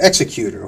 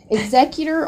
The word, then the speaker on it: executor: Or is it an executor? Who came up with that name? What is that about? Isn't that a great word? Oh, it's awfully close to executioner. Executor, or executor as some people pronounce it, is literally the person who executes your will.